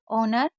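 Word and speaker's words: honour: Air, honest, ऑनर, आवर। ये 4 word meaning ऐसी होती है जिसमें आपको एच को नहीं पढ़ना है।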